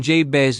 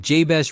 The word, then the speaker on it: Jabez: In Hebrew, the name Jes literally sounds like the word for pain or sorrow.